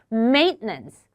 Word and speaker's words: maintenance: 이 단어 발음 maintenance보다 T 쪽 발음을 약간 먹어주셔도 괜찮아요. 저 한번 따라해 보세요. 이렇게 maintenance 이렇게 발음 한번 연습해 보시도록 하겠습니다.